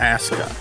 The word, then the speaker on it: Asuka: as U Ka a I thought it's kind of like Asuka or something like that but apparently it's ASA was the proper pronunciation and she seems to